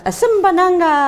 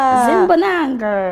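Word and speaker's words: Asimbonanga: I hope I pronounced that well. You did it quite nice. Azimbonanga. Azimbonanga.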